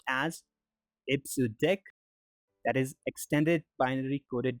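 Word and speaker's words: EBCDIC: or eight the last one ABC di I pronounced as a so deck that is extended binary coded decimal interchange code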